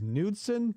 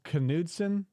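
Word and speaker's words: Knudson: he's gonna mispronounce because I think the detective's name is nudson but he says kudon a bunch you had said earlier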